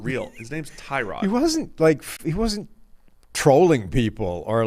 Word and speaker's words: Tyrod: His name's Tyrod. He wasn't trolling people or like pranking them saying that actually my name's pronounced His name's Tyrod.